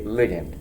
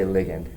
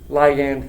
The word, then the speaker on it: ligand: as a ligand for years i used to mispronounce it apparently as ligand and then a chemist said we say ligand and so i say ligand ligand ligand it's a small little chemical thing uh